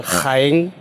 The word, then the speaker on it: Jaén: Caen, es decir, que de mi ciudad natal, Jaén, le podemos sustituir la J de Jaén por una C y ya tenemos la ciudad de Caen, la pronunciación, y sin embargo Jaén, con respecto a Caen, tiene un acento escrito.